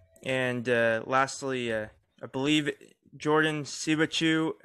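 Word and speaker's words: Siebatcheu: Christian Pulisic, Chelsea, Gio Reyna, Dortmund, Josh Sargent, Brendan Aronson, Timothy Weah, and lastly, I believe Jordan Sibachu. I believe you pronounce his last name like you would Pikachu.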